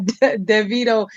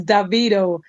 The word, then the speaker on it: Davido: be to tell you it's not DeVito it's Davido I think that's how